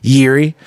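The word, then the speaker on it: Jiří: J-I-R-I is how you say his name. Yuri.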